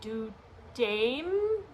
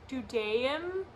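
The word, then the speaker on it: דודאים: I think it's like Dudaim, Dudaim, which mainly translates to love apple.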